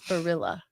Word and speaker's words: Barilla: Barilla is what you'd say. Yeah. Tell me if you guys pronounce that differently. You're saying Blli, but it's Borilla. It's like gorilla.